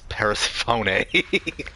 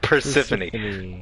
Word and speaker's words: Persephone: the mispronouncing Persephone a as Paris phony like a idiot Persephone I will own that